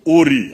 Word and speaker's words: Ur: 31, Abraham came from Uri. I don't know how to pronounce it. It is written U-R. I don't know how they pronounce it. But we pronounce it in our language, Uri, Mesopotamia, and settled in Haran, Canaan.